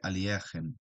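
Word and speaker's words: Alekhine: Folks have uh, a lot of different pronunciation for his name or his surname. The Russians say Aliakhin, you know?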